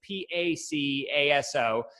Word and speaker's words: Pacaso: So the name is inspired by the artist Pablo Picasso, but it's spelled a bit differently with an A. It's Pacaso.